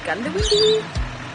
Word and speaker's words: Goondiwindi: Heading out to, I've written Goondiwindi, but Chris tells me it's pronounced Goondiwindi or Gundy.